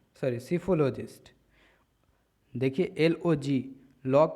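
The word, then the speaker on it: psephologist: Next word is सीफोलॉजिस्ट। सीफो यहाँ P silent होता है, ठीक है, तो यहाँ से पढ़ना चालू करें।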